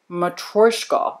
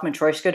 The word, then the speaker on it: Matryoshka: Matryoshka is what the Russian dude on the Yahoos said.